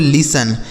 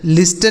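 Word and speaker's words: listen: एन इसे पढ़ेंगे दोस्तों लिसन। एल आई एस टी इ एन इसे पढ़ेंगे लिसन। लिसन नहीं पढ़ेंगे। देखिए यहां जो टी लिखा गया है ना यह साइलेंट है।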